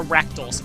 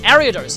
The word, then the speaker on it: Ariados: I used to call it a Rakdos, but that's definitely not what it is. Ariados, or Ariados. Ariados is, I think, how you say it.